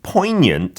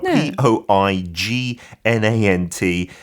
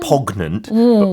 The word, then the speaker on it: poignant: And then poignant the spelling do p o i g n a n t. You don't pronounce the g is not pognant poignant.